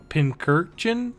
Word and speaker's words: Pincurchin: ass and my goat Pincurchin. That's how you say it. Yeah, Pincurchin? it's Yeah. it's And then- a combination of Pincurchin? pincushion and urchin.